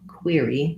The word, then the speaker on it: query: unstressed vowel query query thinking of that as having the ear diphthong might help you because looking at that q-u-e-r hard to know how that would be pronounced er is often pronounced as er sometimes air in this word a little bit unusual is pronounced as ear again any word that